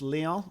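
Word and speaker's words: León: He got man of the match last game, the kid did, against Leon. So, I say Leon like it's French when it's Mexican.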